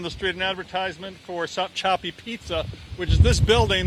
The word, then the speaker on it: Sopchoppy: Let's go to Gary Tuckman, and I'm not sure I'm saying this right, but Sopchoppy, Florida. Gary. John, you are saying it correctly, Sopchoppy, Florida.